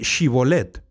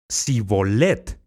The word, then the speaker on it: Shibolet: Entonces le decían, ahora pues, di Shibolet. Y él decía, Sibolet, porque no podía pronunciarlo correctamente.